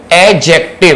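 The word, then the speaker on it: adjective: उसको बोलते हैं एक्जेक्टिव याद रहे इसमें दी साइलेंट होता है तो हमें प्रोनाउंस करना होता है इसको एडजेक्टिव और एडजेक्टिव नहीं बोलते हैं इसको फिर दें हमने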